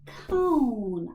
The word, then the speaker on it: cone: And we do O consonant what? What's the silent thing at the end? E. Yeah.